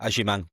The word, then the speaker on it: Agyemang: Come on, how would you pronounce his name? Agyemang, Patrick Agyemang.